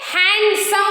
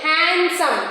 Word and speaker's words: handsome: Handsome we should not say. Handsome. D is silent.